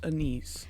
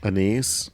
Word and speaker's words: anise: taste like butt that's I think it's pronounced anise anise it doesn't have to sound so naughty okay you know I